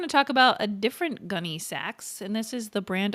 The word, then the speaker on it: Gunne Sax: Okay, so next we're going to talk about a different Gunny Sachs and this is the brand of dresses that's spelled Gu U N E S A X like the saxophone.